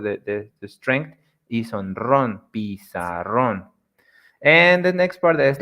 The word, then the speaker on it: pizarrón: Algunos ejemplos son en la palabra pizarrón. Pizarrón meaning board. Pizarrón. As you can notice, the strong part, the word, the strength is on ron. Pizarrón.